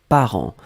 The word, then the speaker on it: parent: Donc le deuxième mot, c'était parent. Parent, on l'écrit au pluriel ici. P-A-R-E-N-T-S. D'accord? Parent, on ne prononce pas le T, on ne prononce pas le S, comme d'habitude.